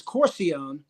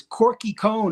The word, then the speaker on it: Corcione: mean my whole life my last name is corcione and actually that's where the corki came from because I don't know what grade I was in fifth grade or sixth grade and the teacher mispronounced my name on the first day of school is Corky cone or something like that and then you know